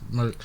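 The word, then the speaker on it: Merck: It's a pharmaceutical company by the name of MERK, but it's spelled MERK. Yeah, it goes according to how it's spelled, not how it was pronounced.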